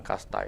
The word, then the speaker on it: casta: dengan adanya pemahaman tentang kasta itu. Nah, bicara tentang kasta itu kita pertama definisi dulu. Ternyata yang baru tahu Pak Putu, kasta itu bahasa Portugis atau Spanyol. Tulisannya casta, bacanya kasta.